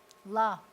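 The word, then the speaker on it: לָה: La. And you leave the hey off just about. It's totally silent.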